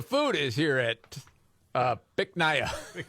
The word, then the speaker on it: Bich Nga: because the name of the restaurant um you pronounce it Bich Nga. Bich Nga?